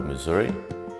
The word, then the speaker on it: Misuri: my body work uh title Missouri spell m i s r i because it's the way I pronounce it as a Spanish speaker and the idea of